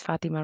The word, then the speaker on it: Fátima: My name is Fatima, right? I have an accent on the A at a time when immigrants were changing their children's names to help them assimilate.